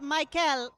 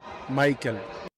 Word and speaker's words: Maikel: It's not Maikel, it's Maikel. I still don't know how to pronounce it.